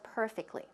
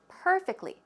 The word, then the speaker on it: perfectly: One thing I do want to point out here is the pronunciation of perfectly. Perfectly. Where does the stress go? It goes on the first syllable.